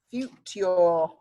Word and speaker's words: future: tricky bit you your future if we spoke like the Queen it would sound more like it's spelt but we don't we say future so Leeds United might